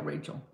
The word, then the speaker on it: Rachel: Is it Rachel? Am I saying it right, Rachel? Yeah, not Rochelle, Rachel.